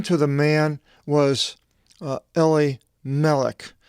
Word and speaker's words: Elimelech: And the name to the man was Elimelech. That's how it's pronounced in the Greek.